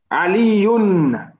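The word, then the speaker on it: عليٌّ: Yes, because the reason why I want you to pronounce it, so imagine if we said like from meaning min. From is also another harful jar. So we would say min aliyin.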